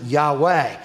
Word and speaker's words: Yahweh: the lord jehovah now in hebrew there's technically no j so they pronounce it yahweh but it's the divine